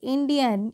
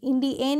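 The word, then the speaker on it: Indian: का आई एंड आई ए एन क्या पढ़ेंगे इंडियन इंडिन नहीं क्या पढ़ते हैं इंडियन पढ़ते हैं आप बोलते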